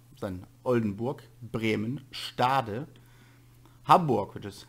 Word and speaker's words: Hamburg: Then Oldenburg, Bremen, Stade, Hamburg, which is Hamburg in English, Holstein, or Holstein, depending on your accent you have.